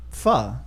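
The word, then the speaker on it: phở: they say i can't pronounce pha but it's pronounced pha and i don't i don't think people believe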